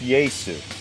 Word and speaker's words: Jesu: like just as much called jesus but it's pronounced yay soo i found out like well then why didn't